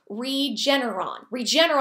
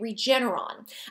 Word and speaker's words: Regeneron: Regeneron, I think is how you say it, Regeneron.